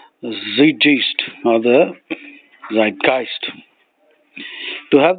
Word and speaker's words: Zeitgeist: Zeitgeist or Zeitgeist. Zeitgeist is actually a German word. Zeitgeist.